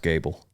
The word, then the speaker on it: Goble: till you meet Garrison Gable yeah he's spelled Goble but pronounced Gable Cowboy anyway very Cowboy